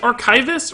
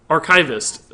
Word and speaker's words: archivist: I think I think there's some emphasis issues with archivists of people have trouble it's just depends on whether you say grand archivist or archivist whether or not the emphasis lands on the right spot because when you add grand to the front of archivists I think you have to add a little extra emphasis to the ark like archive it it's archivist archivist grand archivist like it